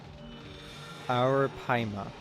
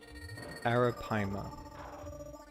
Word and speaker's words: Arapaima: Arapaima. Okay. I gotta remember that. I've heard it pronounced many times before, I just keep forgetting. Arapaima.